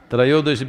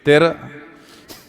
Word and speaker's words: Trayodashi: North Indian people must connect, don't go on clipping away one syllable and come Dhanavantari becomes Dhan, Trayodashi becomes Tera.